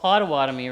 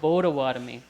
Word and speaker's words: Potawatomi: yep that's right so usually it's called potawatomie right so that's not really how we pronounce it we pronounce it bodawatomy because in our language we don't uh pronounce peas as peas we pronounce them as bees and when we think